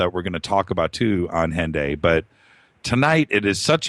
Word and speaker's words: Hendaye: And it's actually pronounced Hendaye in French, and if you were British, it would be Hendaye, like end day.